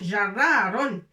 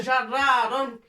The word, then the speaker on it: جرار: Alors, on l'appelle en arabe, c'est jarraron. On le prononce comme ça, jarraron. بالعربية يسمى جرار.